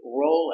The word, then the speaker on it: roll: And if you have a difficult time getting out of bed, you can say roll out of bed. Pronunciation with the roll, make the long O. Roll, roll.